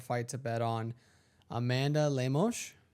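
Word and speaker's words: Lemos: Amanda Leos, right?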